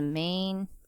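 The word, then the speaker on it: μ: set set okay so population mean is the mean and uh we represent that by so represent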